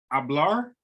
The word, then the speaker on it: hablar: so as I said we got hablar so the H is silent it means to speak